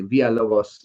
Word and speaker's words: Villalobos: Villalobos. Hola, ¿qué pasó? I love your last name, by the way. that is, and I should pronounce it correctly. Villalobos.